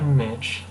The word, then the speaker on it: Mitch: So, I'm Mitchell Smith, but I mainly go by Mitch. And what I decided would be easy to remember my name by is that my name rhymes with witch, and because so many